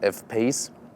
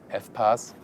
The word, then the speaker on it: F-PACE: But because, for example, when you pronounce it in French, like we say with a Renault Espace, and you say F-Pace, F-Pace, Espace, quite some resemblance.